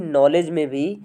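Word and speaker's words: knowledge: और फ्रेंड्स ऐसे ही नॉलेज में फ्रेंड्स के साइलेंट होता है।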